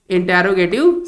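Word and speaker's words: interrogative: जिसे हम कहते हैं इंटेरोगेटिव सेंटेंस। इसे हम कहते हैं इंटेरोगेटिव सेंटेंस। देखिए इसका जो प्रोनाउंस है इंटेरोगेटिव है, नॉट यूज इंट्रोगेटिव। बहुत सारे बच्चे इसको इंट्रोगेटिव बोलते हैं।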